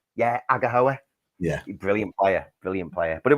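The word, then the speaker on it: Aghehowa: Please pronounce it. Agahoa.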